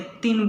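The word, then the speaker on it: क्तिन्: इसे हम कितिन नहीं बोलेंगे, तिन बोलते हैं। क साइलेंट रहता है।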